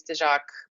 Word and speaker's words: Tezak: whoever doesn't know me my last name is De jaac don't worry if you can't pronounce it it's perfectly fine um I'm currently